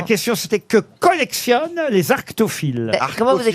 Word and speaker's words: arctophile: J'ai pas dit aracto, j'ai dit arctophile.